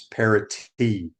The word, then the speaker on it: parity: It's parity, not D. Parity.